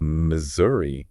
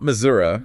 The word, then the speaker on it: Missouri: and then and then we have Missouri Missouri not Missoura oh yeah that's a common one it is but we're